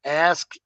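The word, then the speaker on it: ASCII: Well, that's where ASKI comes in. It's pronounced ASKE.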